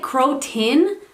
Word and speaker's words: croton: the croton i know people pronounce it cro-tin but it's spelled c-r-o-t-o-n but people pronounce it